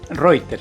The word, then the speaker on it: Reuter: ¿Está bien pronunciado el apellido? Reuter. Sí. Reuter, como Reuter. Claro, como la portal agencia, de noticias. Como la agencia, Como la agencia, así es.